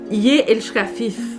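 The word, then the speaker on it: ég elska þig: Et ça se prononce Ye elska fif, alors que ça s'écrit Egg elska pig.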